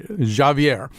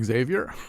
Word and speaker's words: Javier: shayi Cole plays uh I have to say it the right way Javier his name is spelled the way we would say Xavier I think was suggested